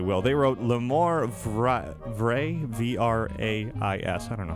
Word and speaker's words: vrai: they wrote L'Amour Vrai, V-R-A-I-S. I don't know how to pronounce that. He said it should be L'Amour Vrai, V-R-A-I, without the S at the end.